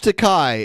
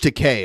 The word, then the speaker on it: Takei: put into concert George takai and his George Takei is actually how it's pronounced George Takei and his